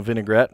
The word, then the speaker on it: vinaigrette: We all know vinaigrette, right? It's a balsamic-based vinaigrette. That is literally how it's pronounced.